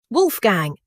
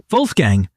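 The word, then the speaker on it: Wolfgang: In German, W is pronounced like the English V. Wait, so Wolf Gang is actually Wolf Gang.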